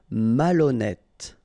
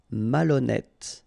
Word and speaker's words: malhonnête: Malhonnête. Okay, remember, H doesn't exist, so malhonnête. Don't insist on the final E. Malhonnête. And here you get E accent circonflexe, so you pronounce it like E.